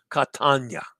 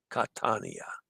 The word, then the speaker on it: Catania: Catania. Catania. Catania. I see what I did wrong. Catania.